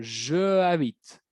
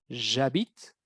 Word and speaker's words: j'habite: Cuidado la pronunciación, no van a decir je habite, je étudie. Es j'habite, j'étudie. Très important.